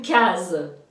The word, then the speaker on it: case: un case, Alors oui, parce que quand il y a un S entre deux voyelles, c'est le son Z.